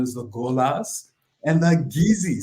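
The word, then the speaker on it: Kissi: tribal groups known as the golas and the Gizzy spell kiss SSI but pronounced gizy sounds a lot like GUI and that her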